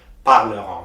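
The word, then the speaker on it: parleront: in o and t the t is also silent you say parleron so you will say nu paleron parleron i will read the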